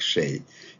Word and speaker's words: Xie: Xie, I think the best approximation is the Shea Stadium in New York. If you heard about that, okay, it's pronounced like Shea. It's closest to the Chinese name, Shea.